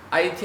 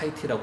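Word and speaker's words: Haiti: 여러분들 몇 해 전에 왜 지진 난 왜 IT 아시잖아요. 영어 스펠링으로 쓰면 하이티지만 미국 사람들은 곧 죽어도 꼭 하이티라고 하지만 사실은 IT잖아요, 그죠?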